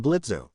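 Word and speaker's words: Blitzø: Blitzo, okay, not much of a talker, are you? Hops down and shakes Moxy's hand. I'm Blitzo. The O is silent.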